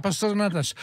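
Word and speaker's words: pastéis de nata: Mais oui, c'est top, les pastel de natache. Il faut prononcer comme ça, pastel de natache.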